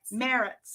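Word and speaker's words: Maritz: Is that how you pronounce it? Meritz yep.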